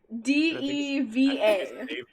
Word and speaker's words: deva: a feeling i know word you mean d-e-v-a oh is it deva oh i am a david yeah i like i like diva better i acknowledge i acknowledge webster's dictionary has it pronounced this way but given that i like this better i'm gonna do that uh the english language